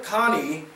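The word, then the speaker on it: Kani: perfect Zazou in this day and age John Connie as Rafiki helped that's how you pronounce the name Connie John Connie has Rafiki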